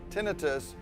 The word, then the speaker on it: tinnitus: However, in some academic and research settings, you may hear it as tinnitus to avoid the confusion surrounding the potential underlying cause.